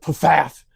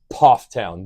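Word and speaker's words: Pfafftown: Most people pronounce it path, but it's Puff Town. The one F is silent. Poff town.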